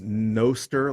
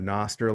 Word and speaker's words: Nostr: and it's really cool there is a debate on whether it is pronounced no stir like no stir or a Noster like Noster I apparently think I